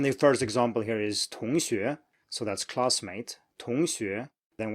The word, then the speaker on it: 同学: But when you get to these, make sure you actually pronounce them as 2, identical tones. So 同学, 同学.